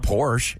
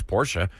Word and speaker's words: Porsche: talking about you look people call Porsche they call it Porsche it's Porsche um Eric there are a